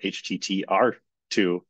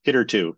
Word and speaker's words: httr2: uh logo for it I used to always pronounce it HTTR R2 and then realized oh it's it's a hitter that's anyway so hitter 2 is how it is formally pronounced all right